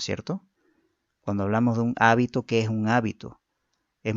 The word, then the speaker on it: hábito: Por ejemplo, dice hábito, habito y habitó, ¿no es cierto? Pueden escribirse aparentemente de la misma forma, ¿no? Pero si yo la pronuncio mal, puedo estar diciendo otra cosa muy distinta, ¿no es cierto? Por decir, la primera que dice hábito, no es lo mismo que mencionar la segunda o la tercera, ¿no es cierto?